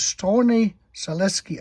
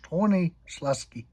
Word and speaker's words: Stronie Śląskie: And down here is Stronie Śląskie. I think that's how that is pronounced, Stronie Śląskie.